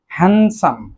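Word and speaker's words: handsome: তারপর রয়েছে হ্যান্ডসাম। আমরা অনেকেই ভুল করে বলে থাকি হ্যান্ডসাম, আসলে তা না, এখানে ডি উচ্চারণটি সাইলেন্ট থাকবে, সঠিক উচ্চারণ হবে হ্যান্ডসাম, হ্যান্ডসাম, সুদর্শন।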